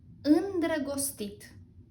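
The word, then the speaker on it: îndrăgostit: In love in Romanian is in dra gos tit indragostit indragostit indragostit Someone is in love. Someone is indragostit.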